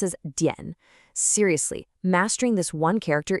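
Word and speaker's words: 点: It's this character right here, dian, which we pronounce as dian.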